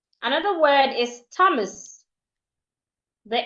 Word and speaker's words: Thomas: Another word is Thomas. The H is silent.